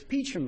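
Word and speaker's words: Peacham: going to give you one pronunciation uh hint it's peachum Vermont and we're going to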